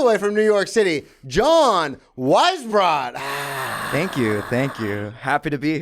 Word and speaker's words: Weisbrot: I feel like everyone has gotten it wrong. And I taught elementary school. Yeah. And those kids, not even close. Well, because it's not spelled the exact same way. No, it's spelled so in a difficult way. Yes. I remember one kid calling me like, and I'm just like, good enough. Yeah, we're close.